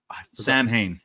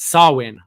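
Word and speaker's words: Samhain: did miss the uh Sam ha no that's not how you pronounce sawin is the pronunciation I did miss the swin Druids the man in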